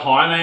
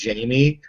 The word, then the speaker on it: Jaime: For starters, I get called Jaime on a pretty much daily basis, but it's actually Jaime. I was but born in Spain.